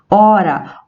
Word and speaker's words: hora: proferimos as palavras hoje hora homem e hábito nós não pronunciamos a letra h então são todos os